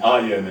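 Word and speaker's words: אין: And the first of those is called, in Hebrew, ayin. Now that's the Hebrew spelling, and ayin is the way it's pronounced.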